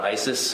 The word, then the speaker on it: IACIS: Can we call it ISIS? Yes. How do you say it? ISIS.